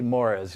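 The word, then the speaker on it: Moraes: is venicius Dave Moray I'm G to call him moris they say mores you know when I look for the pronunciation so he was the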